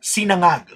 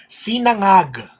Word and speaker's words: sinangag: It is pronounced sinangag. That's how it's pronounced. Sinangag.